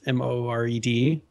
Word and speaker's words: Mord: So it's Mourd, pronounced Mored.